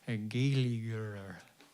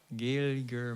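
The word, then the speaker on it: Gaeilgeoir: Flotson says, Sharsa, am I pronouncing that right? Does mean freedom in Irish. Yes, I am a Gaeliger. Gaeliger myself.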